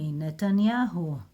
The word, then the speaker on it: Netanyahu: here who it will sound nahu nanahu bam Netanyahu can you read it now without the de